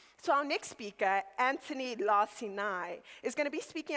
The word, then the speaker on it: Lacinai: here we are together thank you for pronouncing my last name correctly the the second time at least now you heard two versions of it first it was laani and then it was lassai which is actually the